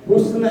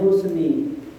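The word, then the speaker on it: حُسْنِ: Husna ini nggak sama dengan bacaan Rasulullah. Rasul bacanya husni. Ya, jadi yang baca husna salah.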